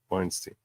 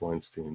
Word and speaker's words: Weinstein: Anyone who has an E-I-N at the end of their name, it was once pronounced E.